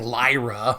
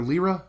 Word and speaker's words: Lyra: lot prettier than saying Lyra but the name did in 2015 end up on the top 1000 new baby names in the United States you can pronounce it either lira or Lyra I like Lyra but